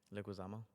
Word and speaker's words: Leguizamo: of like, so you had John I can Leguizamo? never say his name, bro. Leguizamo.